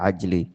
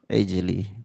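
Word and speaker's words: عجل: Jangan baca ajli itu bacanya apa? Apa? Ij ijli. Tib.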